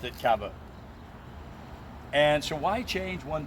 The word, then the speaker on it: caveau: The French pronounced it caveau.